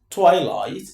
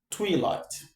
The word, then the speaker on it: twilight: I believe, first of all, you've learned how to pronounce this word, but this is twilight and not twirlight.